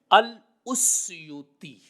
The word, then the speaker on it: السیوطی: وہ یہ ہے کہ الف کے اوپر ضمہ ہے، اس اور سین کے اوپر جزم ہے، اس اور یا کے اوپر بھی ضمہ ہے اور واو آگے اس کے اوپر جزم ہے۔ الاسیوطی یہ اصل میں لفظ ہے۔ اسی طرح ہی امام